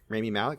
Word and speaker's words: Rami Malek: I can't remember how to pronounce his name. Rami Malek, thank you.